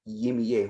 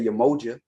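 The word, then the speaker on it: Yemoja: respect these traditions and you can't say yemi yay who is jimmy yeah who is that who the is yamiya where where even white people don't say ye like what i've heard white people say yamoja this is closer than what he's talking about i've heard white people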